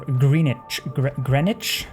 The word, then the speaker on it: Greenwich: The only reason I can remember that is because GMT is Greenwich Mean Time, or Greenwich, depending on the British pronunciation.